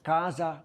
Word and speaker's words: KAZA: is Sonia sagnun she is the founder of Casa consultancy Sonja welcome thank you Simon I love